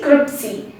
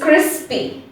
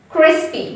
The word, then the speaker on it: crispy: confused and we say we say it cripsy but the correct way to say is crispy crispy don't worry at first